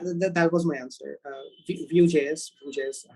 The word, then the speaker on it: Vue.js: go ahead yeah that was my answer uh vue.js which is how it's pronounced yeah vgs definitely use the word although